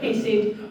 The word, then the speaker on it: hesed: Now, if you say it properly, I believe, as the Hebrews would, you'll get a sore throat or something like hesed. I don't know. We're going to stick with hesed, the nice anglicized version, which is kinder to us.